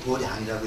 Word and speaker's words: 도량: 도장이라고 쓰고 도량이라고 읽고 불교에서만 도량이라고 읽는 겁니다.